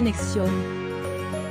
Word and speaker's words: NXIVM: Pièce maîtresse de l'histoire, le gourou présumé Kate Raniere, 58 ans, aurait contrôlé 3 organisations sectes, dont la plus connue N4, prononcée Nexion.